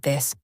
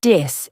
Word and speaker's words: this: For example, saying tree instead of three or dis instead of this. Exactly. The th sound in words like this or thank you is tricky, but here's a simple trick. Put your tongue between your teeth and gently blow out air. It's not D and it's nots. It's something in between.